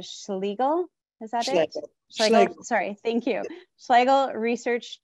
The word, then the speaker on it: Schlegel: Professor Keller is a registered dietitian professor, and I'm sorry, I'm gonna mispronounce this, Schlegel, is that Schlegel. It? Schlegel, sorry, thank you.